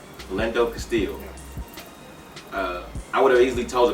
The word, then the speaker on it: Philando Castile: But before I keep saying his name wrong. Philando Castile.